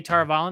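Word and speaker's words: Tar Valon: i'm going to say tar vollen because that's how it's pronounced in the audio books wayne learns that she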